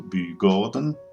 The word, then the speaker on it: Bugården: We will enter a bit into Bygården. You pronounce the A with a circle on top like an O, and then stroll into